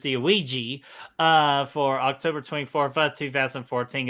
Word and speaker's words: Ouija: And then the next one we got OG. My God, okay. Hold on, I'm playing a video real quick. Shame on me for mispronouncing that damn word. It's the Ouija for October 24th of 2014.